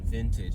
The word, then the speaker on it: VNTG: So this is this really cool place called Vintage, and it's spelled VNTG.